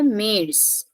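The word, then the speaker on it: März: so we learned that a uml is pronounced as a so mes then dare ail so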